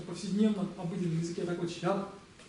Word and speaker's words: ཞབས: Она молчит. Молчащая. Не читается. Точка. Читаем вместе? Щап.